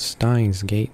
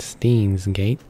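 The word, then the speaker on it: Steins;Gate: of these words so apparently it's called Stein's gate not steen's gate so I sorry about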